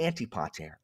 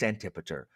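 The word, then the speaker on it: Antipater: like just terrible like let me say antipoter I know it's antipar antipeter is stupid it's antie and pair just let me say antipoter I know it's antiper I don't care I don't care.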